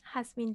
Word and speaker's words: Jazmín: Well, Jazmín. I think that you should decide what Jazmín is the proper pronunciation.